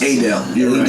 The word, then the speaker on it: Adele: I think it's Adele. Adele. Adele. Yeah. Adele. I love those. Adele. Adele. The E silent. The last E's silent.